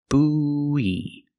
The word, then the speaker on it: buoy: Pronunciation buoy. Buoy. Make the long ooh like food and moon. Bu. And then have the long e like green beans. E. Together, we link the sounds with the ww sound.